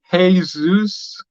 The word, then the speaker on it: Jesus: Hey, Zeus, for those are wondering how to pronounce it.